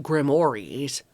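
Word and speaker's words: grimoire: Grimmoirs, which are pronounced grimores.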